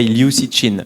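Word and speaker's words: 刘慈欣: In French we say Liu Cixin, but I know you don't pronounce it this way. Liu Cixin, if I'm not wrong.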